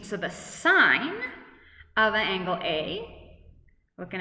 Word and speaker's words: sin: out sin or sorry sine we just write s i n some students say sin but it's always pronounced sine so this is sine